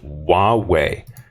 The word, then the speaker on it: Huawei: the 5g networks and then this company is pronounced Huawei all right so Huawei and they are a